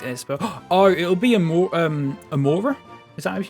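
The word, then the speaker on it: Amaura: good I like es oh it'll be um Amora is that how you pronounce it I got an Amora in Cobble Mon and I absolutely loved it yeah yeah I've looked through the rest of them Amora for sure 100% that's such an unbelievably cute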